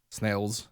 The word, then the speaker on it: Snails: Snails. Actually, I emphasize the S as if it were spelled with a Z, and it's not. It's spelled with an S.